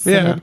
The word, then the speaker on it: Synod: At Synod, is that how you say it? Synod. Yeah. Yep.